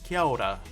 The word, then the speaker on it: Kia ora: So if you think of the AO as like ow, ow, like that, ow. And the KI as key, so you're saying kiao. And then when you say ra, you don't really pronounce the R. It's like a rolled sort of. It's between an R and a D. Kia ora. You know, so you're sort of doing a very soft D.